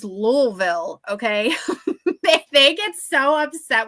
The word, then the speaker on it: Louisville: for every body's knowledge do not call it Louisville do not do not ever call it Louisville because I work with a bunch of people who are in Kentucky and if you call it Louisville they will I mean they will like hang you they will burn you at the stake it is louville okay they get so